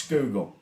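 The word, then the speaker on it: Schuylkill: they will look at you and go it's skg it's skg it's the scoop man this is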